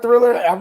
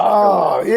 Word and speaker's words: Triller: I heard Thriller. My mind immediately went Mike Jackson. Nope. All right, that's. Nope, I knew you were going to say that. It's Triller. It's pronounced Triller. I'm sorry. It's pronounced Triller.